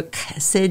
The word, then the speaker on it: chesed: The Hebrew, chesed, you know, your name.